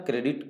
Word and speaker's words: Corps: कोर का spelling लिखते हैं CORPS, पढ़ते हैं कोर, इसलिए ध्यान रहे, सी वाले से बाकी सभी गलत हो, आप लोग याद कर लेंगे बढ़िया से।